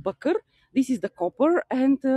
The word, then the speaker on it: bakır: Bakır. If you see the word bakır, probably you see it. It's written like bakir, but it's pronounced bakır.